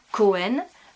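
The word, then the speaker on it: כהן: Ça commence par un kaf, ça s'écrit donc, ça se dit Cohen.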